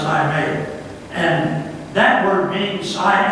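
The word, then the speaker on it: εἰμί: One of them is the Greek word, I may. Spelled E-I-M, it's pronounced I may.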